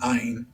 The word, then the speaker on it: Ain: dwell in this myth john and eon and ein three forms of the word and all pronounced ayin represents the redeemed and